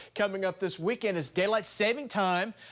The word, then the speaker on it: daylight saving time: is daylight saving time I always call it savings and then I get all the text and emails and Facebook updates saying I said it wrong yeah daylight saving time okay saving time there you go Sunday this